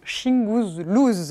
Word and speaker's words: Shingouzlooz: wilfrid lupano qui s'appelle c'est hyper dur à prononcer attention shing blues voilà c'est quand même un titre génial qu'il